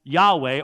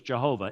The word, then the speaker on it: Yahweh: And the problem is, because we don't render it as Yahweh, or as we slaughter it in English, Jehovah, it could not have been that. That's a 3-syllable word. It's only a 2-syllable word.